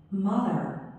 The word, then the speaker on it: mother: Mother. Mother. 다, 네, one도 마치 어 발음 아닌 것 같지만 어 발음이에요. One. One. 하죠? 그 다음에 엄마도 mother. 아 발음인 것 같지만 어. Mother. Mother. 발음이에요.